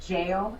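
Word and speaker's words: gaol: banks she runs the it's spelled gold but they say it jail it was the parramatta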